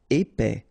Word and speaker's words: épais: Épais, final S not pronounced, A-I together, épais, épais.